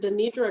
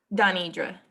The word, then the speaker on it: Donidra: Is it Denidra or Donidra? Donidra. Donidra, okay.